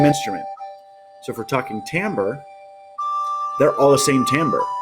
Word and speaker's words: timbre: But timbre, yes, I'm pronouncing it correctly and I spelled it correctly.